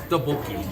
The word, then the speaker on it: Tteokbokki: Tteokbokki.